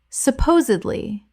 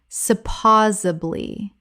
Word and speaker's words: supposedly: Supposedly. Common mispronunciation. Supposably. Correct pronunciation. Supposedly. Four syllables with the stress on the second.